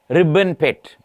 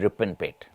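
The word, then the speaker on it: Ripponpet: Ribbon Pet in Shimoga actually is Ripon Pet, mispronounced and now Ribbon Pet.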